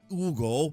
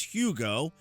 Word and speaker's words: Hugo: Not Ugo, it's Hugo. Even if you pronounce it in the Spanish, it's still Hugo.